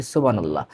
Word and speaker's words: সুবহানাল্লাহ: সুবহানাল্লাহ। না সুবহানাল্লাহ নয়। সুবহানাল্লাহ। এটা হল সঠিক উচ্চারণ।